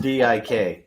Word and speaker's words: Dick: It's pronounced D-I-K. It's D-I-K.